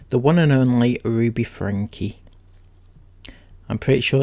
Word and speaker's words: Franke: one and only ruby frankie i'm pretty sure it's pronounced frankie could be frank but i'm sure she said it's frankie so we're going with frankie she is the one